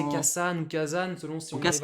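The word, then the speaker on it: 火山: Ka plus san. Le volcan ne se prononcera pas kasan. C'est pas facile à prononcer. Du coup, on a cette règle de l'accent. Ah, ça? Le premier kana du second kanji, le sa, va prendre un accent. Ici, le dakuten, ce qui nous donne kazan, ce qui est beaucoup plus facile à prononcer Ah bon? pour les japonais. Du coup, le mot Ok. volcan se dit kazan.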